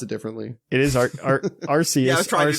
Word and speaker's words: Arceus: going to all pronounce it differently. It is Arceus.